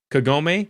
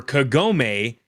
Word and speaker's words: Kagome: So your options were Kagome. Or Kikyo. Well, they're both K, I guess. that wasn't very good. Sorry. So Hey, Hey, here you go. Something that rhymes with homie, but more Oh, so like he's you wrong.